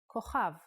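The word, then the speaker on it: כוכב: A good example is the word kochav, kochav, which means a star. K, O, Cha, V, kochav.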